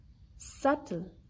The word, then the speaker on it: subtle: When we have B before the letter T in any word, we do not pronounce the letter B, like doubt, subtle, dead. In all these words, we do not pronounce the sound of letter B.